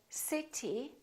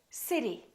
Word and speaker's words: city: better better look again we don't say city we say city city that's a big